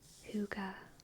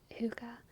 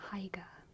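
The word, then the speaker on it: hygge: That's how you pronounce Huga. Well, it's close. It's more like Huga, probably. Huga. But Huga is fine. It's definitely not Haiga. That's not it.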